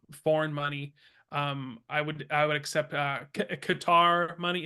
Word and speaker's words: Qatar: I would accept Qatar money. Is that how you say it? Cutter. Yeah. Yeah, Cutter.